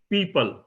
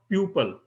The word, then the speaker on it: people: The pronunciation is people, not pupil.